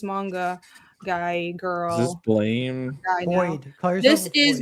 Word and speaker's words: Blame: apparently the intended pronunciation is blame, but it's fucking spelled with an E.